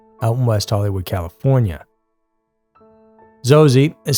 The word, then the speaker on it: Xoxe: but it could be or is it xoxy pronounced zosi is an ultra realistic